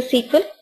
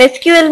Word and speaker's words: SQL: by IBM, and that time it was called as SQL. S-E-Q-U-E-L, it was called as SQL. Then later IBM changed the name to SQL. Okay, and SQL means Structured Query Language. And still we pronounce it as a SQL itself. It is the same thing. SQL or SQL, it's going to be the same.